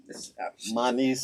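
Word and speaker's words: Manise: That is um but um my niece is my first name. It's spelled M A N I S E. And so M A N I is the Manny.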